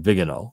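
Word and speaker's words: Viganò: That's why I think this Archbishop Vigano is so important, or Vigano, that's how you say it in Latin, Vigano, V-I-G-A-N-O.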